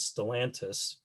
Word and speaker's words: Stellantis: company created is known as, I believe the pronunciation is Stellantis, the plants in the state of Michigan are continuing to operate under the name FCA.